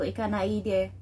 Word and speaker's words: Ikanaide: So cut, there is a cut in the center, so Ikanai and then Ide, so Ikanaide. And that's the one that I have learned.